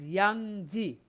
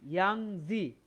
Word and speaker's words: Yangtze: The pronunciation of this word is Yangtze. I repeat, Yangtze.